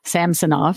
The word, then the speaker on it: Samsonov: was great that uh Samson off since that's his apparently how you uh pronounce his name samsonov now uh our goalie